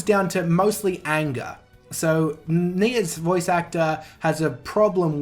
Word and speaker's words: Nia: actor nice voice actor I'm gonna call Anaya just because I think that's the way it should be pronounced it's just pronounced Nia for some reason so I like